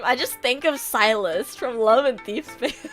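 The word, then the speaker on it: Sylus: At first I thought it was like sillus or something cuz it's spelled s i l u s. But it's it's silus. It's it's fate. I know. He's called silus.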